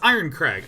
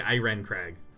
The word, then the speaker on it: Iron Craig: are you okay Shawn you know it's iron Craig iron Craig is spelled IR en like iron Craig and I can't not say Iran Craig oh oh that's cute